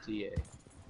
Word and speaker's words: puta: P-U-T-A. With no N. Puta.